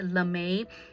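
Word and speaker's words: lamé: have a material called LeMay it spelled out a and E and so you might want to call it lame but it's pronounced lamay and that's like the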